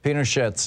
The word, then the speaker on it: Pinochet: you pronounce uh uh pinochet's name with a hard t at the end i i had always